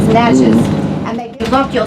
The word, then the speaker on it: Natchez: We say it like a box of matches. Natches.